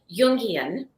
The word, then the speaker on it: Jungian: So a friend of mine asked if I wanted to go to a Jungian conference. It's like J with a Y is how it's pronounced.